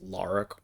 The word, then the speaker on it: Lara: between laura and lara i think it's lara croft i think that's how you actually say it even though i think it's spelled like uh laura it's confusing whatever semantics